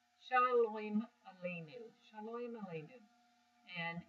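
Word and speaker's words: שלום: So in Ashkenazi, we wouldn't say shalom, we would say shalem. Shalom aleinu. Shalom aleinu. And in Israeli Sephardic pronunciation, we would say shalom, as in shalom aleinu.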